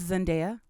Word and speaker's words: Zendaya: Speaking of HBO money, Zendaya and her co-star Jacob Elordi, which we've talked about before. I thought it was Zendaya. What did I say? Zendaya? Yeah. It's Zendaya.